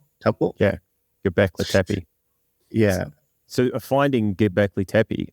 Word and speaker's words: Göbekli Tepe: Göbekli Tepe. Göbekli Tepe.